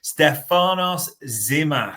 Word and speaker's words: Stefanos Tzimas: next one and I'm going to take the pronunciation of this before Bart has a sort of hissy fit on this Stefanos zimas so when this news broke a lot of